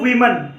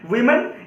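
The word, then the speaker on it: women: अब क्या बोलेंगे, टू वीमन। क्या बोलेंगे दोस्तों, टू वीमन। देखिए दोस्तों इसकी जो तलफ्फुज है, प्रोनाउंसिएशन है, वो वीमन है दोस्तों, वीमन। इसको वुमेन बोलेंगे तो ये गलत हो जाएगा दोस्तों।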